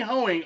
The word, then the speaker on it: Hoeing: his actual name hoeing h-o-e-i-n-g hoeing you got the I said it right Towing comes set in